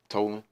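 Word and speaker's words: Tolan: Now, I'm not sure if I'm pronouncing it right. Uh Tolen. Mhm. Okay. Tolen.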